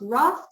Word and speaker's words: rath: Gaia and Gimbal and pronounce wrath to rhyme with boss now um you see